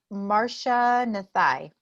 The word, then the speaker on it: Marcia Nathai: All right, let's start with Marcia Nathai.